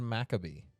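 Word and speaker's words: Maccabee: I cannot that so maob maab mabar it's pronounced makabe crazy ain't that wild that's absolutely wild it's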